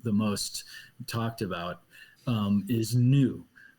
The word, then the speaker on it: Nu: most talked about, is Nu, which is phonetically so close to Noah.